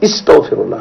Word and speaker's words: astaghfirullah: Il faut prononcer par A, c'est pas par I. Parce que certains disent astaghfirullah. Non, c'est astaghfirullah, astaghfirullah.